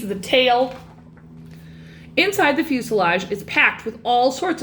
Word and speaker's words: fuselage: for the main course the fuselage which rhymes with blue garage is the largest part